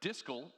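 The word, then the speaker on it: dscl: pronounced you with uh the directory service command line or disco and our favorite system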